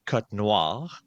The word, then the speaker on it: Cotnoir: How would you properly The French way it would be cotir, but in English circles we would just say cotir.